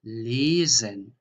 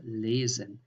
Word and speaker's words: lesen: So how you pronounce just one S. That is here, for example, the journey, die Reise, or lesen, or tausend. So this is a normal Z, tausend, Reise, lesen.